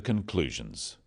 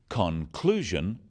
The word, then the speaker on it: conclusion: So, conclusion, not conclusion. Products, not products.